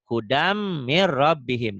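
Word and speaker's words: هُدًى مِّن رَّبِّهِمْ: Setiap huruf mati ketemu huruf bertasydid, huruf matinya jangan dibaca. Mir, hudam mir rabbihim.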